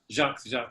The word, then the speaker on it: Jacques: with the French pronunciation? Yeah, that's the one. Okay. Jacques. Okay, like Jacques Cousteau.